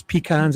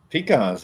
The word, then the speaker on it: pecans: But there was pecans everywhere. I loved it in Georgia. Pecans, at least you say it right. Pecans. Some people say pecan, right?